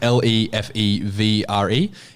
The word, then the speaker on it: Lefebvre: It's spelled how it sounds. Not really. It's Lefebvre. Yeah, Lefebvre. It's Lefevre.